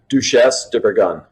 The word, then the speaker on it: Duchesse de Bourgogne: Because I always pronounce it incorrectly. Yeah, Duchesse de Bourgogne.